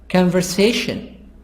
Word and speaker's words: conversation: the stress revolution Lu conversation si the stress on si here Group three communication